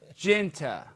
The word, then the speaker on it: Genta: the show I I how do you say your last name because Tony was saying it wrong I say oh Lord jenta Jinta J and J and that seems Genta there you go still I I don't